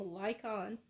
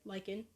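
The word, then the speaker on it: Lycaon: that a man named lykon i think that's how you say it like him liken it's l-y-c-a-o-n yeah like it liken angered zeus when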